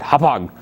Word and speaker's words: Hauppauge: You gotta pronounce it Hauppauge. You gotta really let it rip.